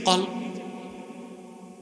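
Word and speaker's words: قلب: থাকে না ঘুরাঘুরি করে এজন্য এটার নাম হচ্ছে কল নাম কি কল উচ্চারণ ঠিক করতে হবে অনেক মৌলভী দেখি উচ্চারণ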